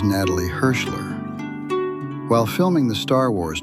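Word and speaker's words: Natalie Hershlag: The Hebrew pronunciation of her name is Natalie Hirschler.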